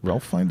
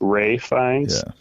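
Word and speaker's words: Ralph Fiennes: Is it Ralph Fines or Ray Fines? Well, it's actually it's it's spelled Ralph, but it's actually pronounced Ray Fines.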